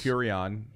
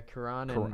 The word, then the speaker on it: Cuarón: Curion. Yeah, Cuarón. How do you say? I think it's Cuarón.